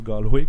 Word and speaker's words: Galway: Donc, Galway, qu'on dit Galway, mais c'est Galloway, mais on la prononce Galway, qui est une ville complètement de l'ouest, 3e ou 4e ville en importance au pays.